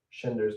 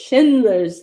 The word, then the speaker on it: Schindler: c h i n d l r shinder's list shindler's list Shindler Schindler's list I remember